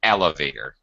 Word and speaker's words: elevator: you said elevator elevator it's the first syllable gets the stress in elevator not elevator elevator ele elevator that's better